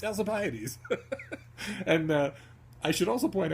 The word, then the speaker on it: Alcibiades: In fact, it is known how it's pronounced. It's Alcibiades.